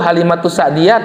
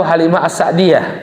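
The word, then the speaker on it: Halimah as-Sa'diyah: Halimah as as sa'diyah yang benar tuh Halimatus sa'diyah atau Halimah ass'diyah halimatus'ah ya dua-duanya benar kalau disambung bacanya Halimatus sa'diyah kalau dipisah Halimah ass'diyah cuma yang perlu saya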